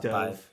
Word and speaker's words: Dov: ex-boyfriend professor's name, like Dove or whatever. It is Dove. He. From the audiobook. That's where the audiobook comes in handy. It's like D-O-V. I'm like, I think that's Dove.